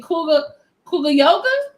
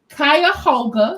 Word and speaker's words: Cuyahoga: He is getting arrested for contempt in Kuga Yoga. Is that how you say it? Cuyahoga.